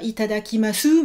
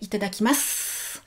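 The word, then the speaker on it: いただきます: 6 syllabes, mais vous vous souvenez qu'il y a toujours petite voyelle muette. À la fin, vous dites pas itadakimasu, mais itadakimasu.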